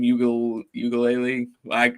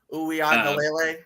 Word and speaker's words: Uiagalele: How do you pronounce his last name? Ugalele? That's way off, but Uiagalele, I think it is.